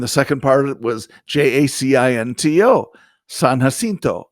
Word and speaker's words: San Jacinto: second part was j-a-c-i-n-t-o san jacinto is what i would say yeah and it's san jacinto yeah yeah and i said seriously it's not that that's not how you say it it's like george spelled